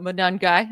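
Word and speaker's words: Monangai: It's a very hard name to pronounce, but Monungai, I'm pretty sure that's how you say it.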